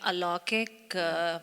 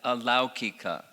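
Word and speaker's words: अलौकिक: The slide where there is a difference between Laukic and Alaukic, in the Vedas there is an Alaukic language and... That's just, the pronunciation is Laukika and Alaukika.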